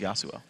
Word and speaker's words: Yasuo: How many more times will you mispronounce Yasuo? Yasuo? Yasuo. Yosu? Okay. Yosu. Yosu. Yosu. There we go. You're pronouncing it wrong. It's Yosu.